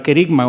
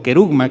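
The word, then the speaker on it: kerygma: tiene la palabra proclamación, que en griego es la palabra kerigma o kerugma, que algunos la pronuncian con u, o con i.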